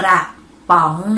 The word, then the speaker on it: กระป๋อง: ต้อง คือ ครั้ง ที่ 3 นั่น เอง กระป๋อง สะกด ว่า กอ รอ อะ กระ ปอ ออ งอ ปอง ป๋ม จัตวา ป๋อง อ่าน ว่า กระป๋อง นั่น เอง เรา มา ดู ข้อ สุด ท้าย